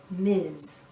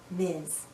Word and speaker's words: Ms: we pronounce this as Miz Ms sounds like a z at the end Miz a woman can choose